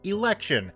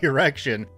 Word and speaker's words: election: i was trying to correct the pronunciation of the word election as there was an election at the time most of my students were pronouncing it as erection and i was trying my damn this to get them to understand the difference between the two words this student finally jumped